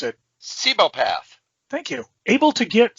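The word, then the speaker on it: Cibopath: Tony Chu is I can't even pronounce it. Sebopath.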